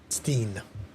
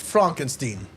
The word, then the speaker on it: Frankenstein: Steen. You're putting me on. No, it's pronounced Frankenstein.